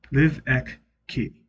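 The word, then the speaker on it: Livecchi: but my last name is said like live. Now, it's said like you say it with the pronunciation of live key, live ek key. And it's spelled live c chi.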